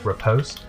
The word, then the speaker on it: riposte: your riposte and um it shane confirm repost that's how you pronounce that word yes okay well i